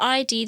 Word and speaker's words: id: And it's also, they say it's id, by the way. It's not ID. okay, sorry. But it's spelled Yeah. ID, so Yeah. you can see the confusion.